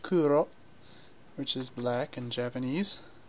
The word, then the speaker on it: Kuro: this is my newly adopted cat C uh pronounced Kuro which is black in Japanese just something that